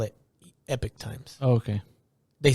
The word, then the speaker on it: Epoch Times: it they I believe they still call it Epic Times okay they spell it like Epoch though that's probably but it's it's pronounced Epic Times okay okay go ahead so they have an